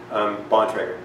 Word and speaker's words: Bontrager: How do you pronounce it? Bontrager.